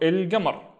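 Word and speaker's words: القمر: I have that circle, it means the next letter, which is ga in this case, is one of the moon letters. And if it's a moon letter, it means just pronounce everything as we have used to do.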